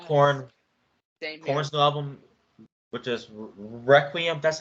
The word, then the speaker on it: Requiem: so far, joining Korn's new album, which is Requiem. That's how you pronounce it, and Don't FM by The Weeknd.